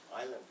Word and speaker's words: island: We have silent letters. Island. Yeah, so, island, the brother example, it's there in every language.